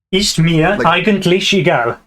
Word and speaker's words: Ist mir eigentlich egal: It's the Ist, because it's pronounced Ist. Okay, Ist. Soft. Yeah, Ist mir. Ist mir eigentlich egal. Yes, and it's eigentlich. Lich. Eigentlich egal.